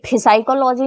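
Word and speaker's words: psychology: ये साइकोलॉजी नहीं होता, ये साइकोलॉजी होता है। इसमें पी क्या होता है, ये साइलेंट होता है, ठीक है।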